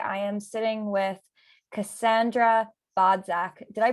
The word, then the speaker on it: Bodzak: I am your host, Aliza Kelly, and today I am sitting with Cassandra Bodzak. Did I pronounce it right?